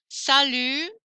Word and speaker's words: salut: Salut. No T.